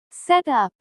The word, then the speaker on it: set up: Set up. The stress is stronger on up. Set up.